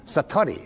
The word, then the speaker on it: satori: it's called Satori I'd love to say that Satori SAT Ori and it means instant awakening the